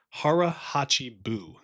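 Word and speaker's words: 腹八分: They have this phrase that's called "hara hachi bu," is what it's how it's pronounced. It's also noted as being "hara hachi bun mi," and this really just means eat until you're 80% full.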